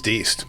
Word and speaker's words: Diest: we have Is it Diest or Diest? It's Diest. Okay. It took me until I was 40 years old that I learned German and Dutch. You pronounce the second vowel.